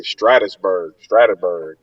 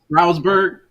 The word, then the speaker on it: Stroudsburg: Man, I had a TO from I think that's how you say Stratusburg. That's how you say it. Oh Stroudsburg, man, Stroudsburg, that's all the way.